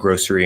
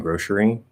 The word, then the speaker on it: grocery: be pronounced either way it's kind of like grocery and grocery where you can like change this change that between the s and the sh because s and s